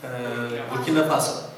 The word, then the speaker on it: Burkina Faso: Oh, Burkina Faso.